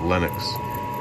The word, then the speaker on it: Lennox: Not Linux, but Lennox.